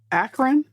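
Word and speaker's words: Akron: up there okay just a yearart yeah from akan is that how you say it akan Ohio yeah akan yes akan but you know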